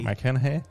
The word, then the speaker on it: McConaughey: Voilà, c'est ça, parce que justement le personnage donc de Cooper, qui est joué par Matthew McConaughey, je l'ai bien prononcé. Matthew McConaughey.